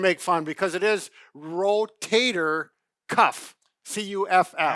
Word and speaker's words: rotator cuff: - Rotator cuff. Now let's get the pronunciation, - Right. - We've had patients come in and say my rotator cup, my cup, cup of coffee.